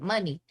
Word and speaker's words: Muni: um that's dope but you should pronounce it money and i was like